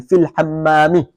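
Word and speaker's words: في الحمامِ: Pronounce the ha correctly. Fil hammami.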